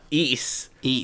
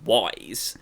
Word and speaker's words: Ys: And I just want to thank the producer for telling us how to pronounce uh East, which is spelled capital Y S, which I've always called Wise.